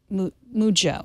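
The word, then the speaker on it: Mujjo: So, that's actually not Mujo, but Mujo. Mujo. Yeah, say the J twice.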